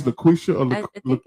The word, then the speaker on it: Laquitcha: Look, I don't want to say Laquitcha. Laquitcha. Yes. I'm gonna let her get on me about It's that. You know Laquitcha. when she pull up. You know what I'm saying? Yes. It's Laquitcha or I think it's Laquisha.